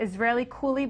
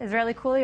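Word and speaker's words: Israellycool: With me for this hour is Brian Thomas, the Israeli Coolie blogger. Israeli Coolie, am I pronouncing that right?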